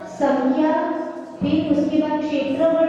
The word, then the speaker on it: क्षेत्र: यहाँ पे दो जगह याद रखना, एक जगह सत्संख्या क्षेत्र स्पर्शन, जो क्षेत्र है, क्षेत्र का जो क्ष है वो क्षत्रिय वाला क्ष है, इसलिए उसमें क जैसा प्रोनाउंसिएशन संख्या के बाद बोलेंगे।